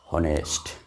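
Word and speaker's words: honest: বসে গেল এটাকে সেমি ভাওয়েল বলে থাকে কারণ অনেস্ট অনেকটা ও এর মতন উচ্চারণ অনেকটা ভাওয়েলের মতন উচ্চারণ অনারেবল ম্যান ঠিক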